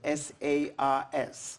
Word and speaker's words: SARS: does sars stand for the abbreviation s-a-r-s and in english we pronounce it sars so what does it